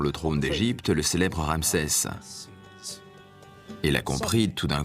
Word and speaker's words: Ra: soleil et Champolion sccopte il se prononce RA en bas une lettre